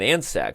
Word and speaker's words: Andscacs: Which is why I guess we're pronouncing the C silently in Andscacs, right?